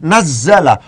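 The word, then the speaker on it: نزّل: Karena demikian nun za'lam ini sama, nun za'lam, tapi di sini cara bacanya harus diikutkan pada wazan fa'ala, nazzala.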